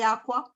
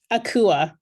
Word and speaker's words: Akua: Am I pronouncing your first name correctly, Aqua? Akua. Akua.